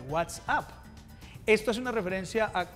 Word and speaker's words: WhatsApp: esta palabra anuncia whatsapp se pronuncia exactamente what's up esto es una referencia